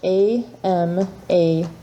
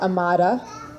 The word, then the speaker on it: Amada: It's spelled A-M-A-D-A. So it looks like Amada, but it's Spanish. So the D has a TH pronunciation, a very soft D they call it. It's a Castilian pronunciation, so it's Amada.